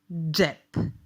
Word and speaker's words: džep: Ready to try to pronounce some of the words? How about this one? Džep.